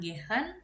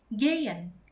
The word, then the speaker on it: gehen: Jadi bukan gehen tapi gayen. Karena e ketemu sama H itu jadi e ya jadi gayen atau dalam kata zeen.